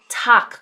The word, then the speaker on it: Tag: That's making a 'p' sound, not a 'b' sound, A 'g' making a 'k' sound such as in 'Tag' (tock). Guten Tag (guten tock).